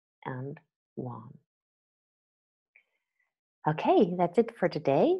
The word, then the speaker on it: Juan: and jelly here are two example words in which the J is completely new the first one is marijuana and the second one is the personal name Juan from Spanish okay marijuana and WOM okay that's it for